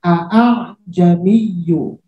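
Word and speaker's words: أَأَعْجَمِيٌّ: Nah, karena sekarang alifnya sama-sama hidup, maka dia diayun cara bacanya.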